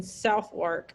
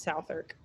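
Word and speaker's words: Southwark: in this company in south work it's probably pronounced south irk at that high-class hostelry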